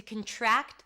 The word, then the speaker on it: contract: You end with a k sound and a t.